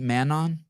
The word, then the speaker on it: Manon: saying your name right man on yeah yeah yeah this is my American name can I hear you say it Manu mano yes Mano so don't even pronounce the N at the end Mano no but I